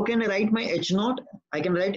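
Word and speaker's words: H₀: This is pronounced as naught, H naught.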